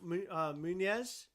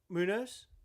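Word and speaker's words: Muñoz: Hey, Happy New Year, Humberto Munez. Am I pronouncing that right? No, I don't believe so. You pronounce it then. You do it. Munoz?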